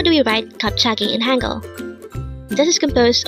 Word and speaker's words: 갑자기: kagi kagi what does it mean today on one